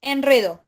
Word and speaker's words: enredo: importante que sepan que el verbo enredar no se dice enrieda enrieda la palabra enrieda no hay un no hay una diptongación no se le agrega la i e es enredo Sí ahora bien fíjense los